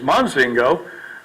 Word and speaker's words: Mozingo: ammonium zing goes even my pronunciation of my last name is Mozingo some of the Brinell